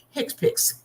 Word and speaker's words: HCPCS: this book that the the acronym hcpcs is pronounced hick piix it stands for healthcare proced ual coding system